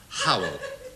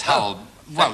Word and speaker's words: Howell: roof a man called hu Brown oh sorry Ronnie you've got that wrong it's pronounced Howell how yes how well that's according to actor hu Bennett ah thank you thank